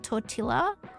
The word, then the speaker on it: tortilla: Well, J makes a H sound in um in in Spanish and the double L's are usually silent. Like tortilla is in tortilla and paella has a double L in it too that you don't pronounce.